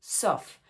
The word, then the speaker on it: sauf: Sauf si Sauf si le A et le U, hein, on prononce comme un O. Sof.